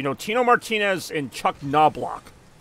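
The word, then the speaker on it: Knoblauch: Tino Martinez and Chuck noblock silent letter and the Au sounds like ow now block wait oh God damn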